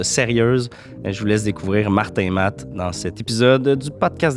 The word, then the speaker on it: Martin Mat: Il y a bien du monde qui nous confondent, mais c'est M-A-T. OK, donc on prononce pas le T, c'est Martin Ma.